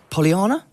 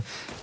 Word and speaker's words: Yasnaya: The way that this is playing out right now, it seems that Poliana? Is that the correct pronunciation? Yasnaya. Just Yasnaya.